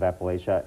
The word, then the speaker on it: Appalachia: Sure, if you're from the region or south of the border, let's say south of the Mason-Dixon line, you say Appalachia.